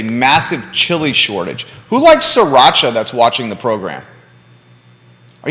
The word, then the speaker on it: sriracha: sriracha sriracha sriracha yeah but it's spelled sri yeah but it's sriracha like sri lanka sriracha um but a